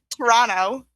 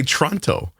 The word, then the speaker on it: Toronto: I do say Toronto. Like, I don't pronounce the T in Toronto. You're supposed to say Toronto.